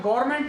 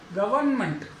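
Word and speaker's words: government: ऐसे ही comment, official नहीं, official. जैसे मैंने कहा गवर्नमेंट नहीं, गवर्नमेंट, तो ये ओ से संबंधित।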